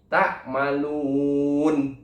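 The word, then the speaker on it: تعملون: Atau ketika diwakofkan, maka dibacanya nunnya sukun atau nunnya mati. Ta'malun, seperti itu.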